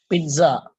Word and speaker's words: pizza: ahead pronounce it now Pizza Pizza now everyone using that third sound good good I hope at least now you will not go and say to someone Pizza it's a TA sound I showed it